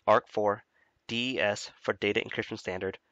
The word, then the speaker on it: RC4: key encryption ciphers are rc4 pronounced arc4 des for data encryption